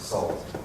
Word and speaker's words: NaCl: NaCl pronounced salt.